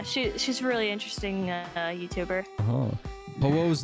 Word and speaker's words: Ho-Oh: You keep calling him Ho. Oh, I called him Ho-Ho as a kid too. But it's just Ho-Oh. Ho-Oh. Like say ho like Santa Claus and then say oh.